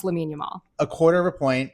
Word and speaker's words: Lamine Yamal: I believe it's pronounced Lamine Yamal.